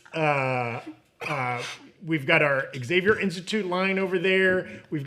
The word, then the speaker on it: Xavier: to fix that I keep forgetting it's just Xavier by the way that's how he say his name I don't know why Americans are like Exavier it's just Xavier oh yeah yeah Xavier that's it how'd that